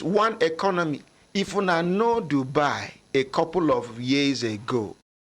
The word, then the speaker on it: Dubai: Now, some say no sabi pronounce Dubai. They say where they go. They say Budai. Dubai. Dubai. Budai.